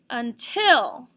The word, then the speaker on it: until: But this word is actually said until. Until. We were going outside to play until it started raining. Till is accented in this word. It's louder, longer, and higher.